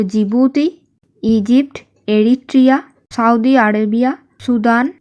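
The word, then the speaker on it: Djibouti: रा होलो जिबूती देखो जिबूती बनान किंतु नरकम डी दिए शुरू डी टा साइलेंट थक तो जिबूती Egypt Eritrea Saudi Arabia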